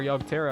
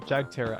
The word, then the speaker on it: Jagterra: Now that our Yogterra are gone. Jagterra, I keep saying it wrong.